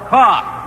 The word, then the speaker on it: cough: A word ending in O-U-G-H that rhymes with off. Tough. What? Cough. Cough, right, C-O-U-G-H.